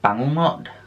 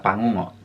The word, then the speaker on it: bangungot: And I believe you pronounce this word as bangungot.